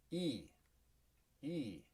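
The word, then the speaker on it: いい: on slide uh one which was remember this e e which is good and it can also be pronounced yoy and that's important to note here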